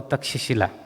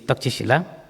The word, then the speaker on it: Takshashila: So, as a student of Pariyati, I came to know about the Takshila, which now it is pronounced in English, but actually it is Takshashila.